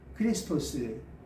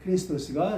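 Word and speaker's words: Χριστός: 그다음에 그리스도의 원래 그 헬라어 발음은 뭐냐? 크리스토스. 네. 크리스토스가 이제 또 원래 그 발음입니다.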